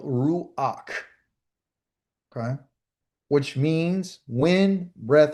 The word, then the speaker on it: ruach: how to say it, it's just ru, like kangaroo, ruach, and this is called ruach.